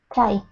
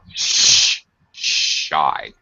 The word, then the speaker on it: shy: Oh, watch your sh pronunciation. Okay. I thought you were saying chai, like the tea. What? No. Shy.